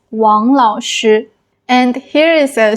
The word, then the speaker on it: 王: And maybe sometimes they will confuse the Wáng sound with the Huáng sound. So, instead of saying Wáng Lǎoshī, maybe they will pronounce it as Huáng Lǎoshī, like teacher Huáng.